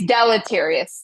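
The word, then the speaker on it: deleterious: Was there It's Wait, it's delotterious. That's the way to pronounce it.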